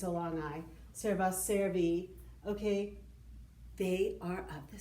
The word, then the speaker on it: servi: the letter i and we pronounce it e in latin okay if it's a long i cerva servi okay they are of